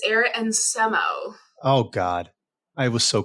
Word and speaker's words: Arit Nsemo: Cs at C spring did I get your pronunciation correct it's Eric and SEMO oh God I was so close I got